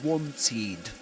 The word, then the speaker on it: wanted: So we say wanted. The ed is pronounced like this. Wanted because of this sound, because of this letter and sound.